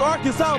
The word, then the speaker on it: Arkansas: I got that wood, and that's how you pronounce it. Ain't Arkan. It's Arkansas, baby.